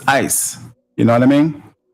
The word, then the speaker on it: ICE: We got to be very clear on when we say these words like ISIS. ISIS is not what they're called. It's ICE.